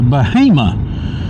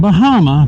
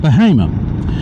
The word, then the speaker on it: Bahama: Stagwell road takes you to Bahama, not Bahama, Bahama.